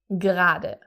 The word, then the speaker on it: gerade: Gerade. So you can see there is an E in the word, but it's not actually pronounced, so everyone always says gerade.